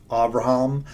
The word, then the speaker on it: Abraham: The better pronunciation of Abraham is Avraham.